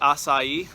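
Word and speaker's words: açaí: up I've had a couple times um is acai is how they pronounce it uh it's a c-a-i we have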